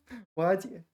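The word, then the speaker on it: 瓦解: Oh, Y is third tone, but it's tone sandy, right? 瓦解. All right. I thought it was second tone, but once you factor in tone change, I pronounced it correctly.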